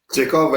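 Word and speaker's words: Chekov: रही है वो मिस्टर चेखोव की गन नहीं है। चेकॉव है, बस चेकॉव तक ही प्रोनाउंसिएशन रखना दुग्गल साहब.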